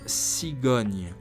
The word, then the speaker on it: cigogne: Listen, then pronounce Agnès, Agnès, Agnès. Word number 3 is cigogne, or stork, a type of bird.